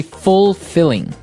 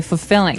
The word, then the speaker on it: fulfilling: You don't say fulfilling. No, you say fulfilling. Fulfilling. So the L there is kind of silent.